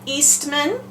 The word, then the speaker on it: Eastman: have a syllable so if I say Eastman my last name it would be East man two syllables so you can put